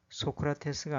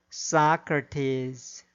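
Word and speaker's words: Socrates: 주어진 단어의 경우에도 인디애나폴리스가 아니라 인디애나폴리스, 사우디아라비아가 아니라 사우디아라비아, 암스테르담이 아니라 엠스터담, 리오데자네이로가 아니라 리오데자네이로, 소크라테스가 아니라 사크라테스, 오아시스가 아니라 오에이시스, 메르세데스가 아니라 머세디스로 발음해야 합니다.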